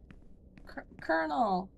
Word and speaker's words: colonel: Colonel! Colonel! I still hate that that is pronounced the way it is when it is felt the way it is.